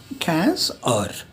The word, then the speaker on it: heures: 15 is 15 or. So we have spelling of or written here, ash, a, u, r, a, s, right.